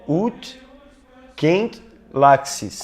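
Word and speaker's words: ut queant laxis: Então, por exemplo, o primeiro verso, me corrija se eu estiver errado na pronúncia, é ut quent laxis.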